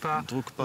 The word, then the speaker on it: Drukpa: Alors, vous avez créé une association qui s'appelle Drukpa, que je prononce bien, non ? Oui, tout à fait. Drukpa Vendée.